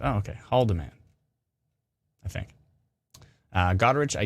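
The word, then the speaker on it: Haldimand: gone so many questions not a silent h says george see so it's haldeman the h does get pronounced oh okay haldeman i think uh godrich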